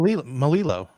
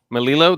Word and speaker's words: Melillo: Melillo. Melillo, that's it. Because Yeah. Melillo. well, sometimes in other languages, when you have 2 L's next to each other, it sounds different. Like it could be Well, Melillo.